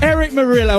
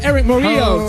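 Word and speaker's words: Erick Morillo: Eric Morillo, or Eric Morillo, to pronounce it correctly.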